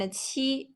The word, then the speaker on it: 七: And the airflow, when we are pronouncing qi, there's a strong airflow. Xi, a little airflow, while ji, no airflow at all.